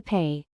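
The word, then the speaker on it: פ: Similarly, with Peh, we hold back the air with our lips for the P sound, but for Fe, the air is allowed to flow freely.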